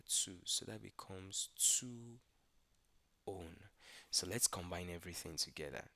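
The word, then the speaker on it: -one: Now ketones usually use the suffix o n e pronounced as own.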